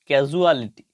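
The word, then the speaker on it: casualty: এর উচ্চারণ সনা হয়ে বর্গীয় জ এর মত সাউন্ড হবে ক্যাজু ক্যা সি এ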